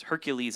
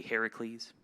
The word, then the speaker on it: Heracles: kind of roman sources hercules is actually the roman way of saying it if you were going to say it like a greek it'd be heracles like delin was saying